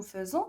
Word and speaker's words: faisons: voilà nous faisons donc ça se prononce nous faisons mais ça s'écrit bien sûr avec a I donc faites attention maintenant